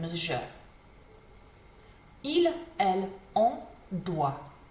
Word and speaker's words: doit: Il, elle, on doit. Same pronunciation as the other two, but with a T on the end this time.